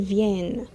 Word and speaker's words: viennent: Remember, don't pronounce the NT. Ils viennent.